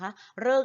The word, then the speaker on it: ฤกษ์: เช่น ตัว อย่าง ของ คำ ว่า ฤกษ์ นะ คะ เลิก ใน ที่ นี้ หมาย